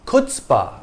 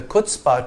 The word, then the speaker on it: chutzpah: It came into English from Yiddish in the 1890s and was first transliterated as chutspe, which gives you a clue to the pronunciation of the first syllable.